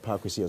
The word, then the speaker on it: Paa Kwesi: there I told them so how's your name pronounced I said park with your sorry okay so the reason we're doing all